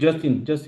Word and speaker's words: Justin: eh, ¿cómo se pronuncia? Justin. ¿No? ¿Sí? Sí, Justin.